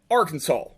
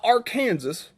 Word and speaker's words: Arkansas: this first all right this is a picture in arkansas not our kansas even that's how it's spelled arkansas this is central high